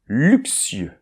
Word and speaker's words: luxueux: So then this word, be careful, it's not easy, we will start with , so the letter - U.